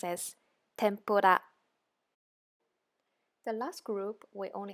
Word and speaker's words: tempura: Li Lu let look so tempura actually it's pronounced as tempura the last group we only have three again